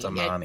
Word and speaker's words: damane: Damani. It specifies Mas Damani. emphasis on the middle syllable.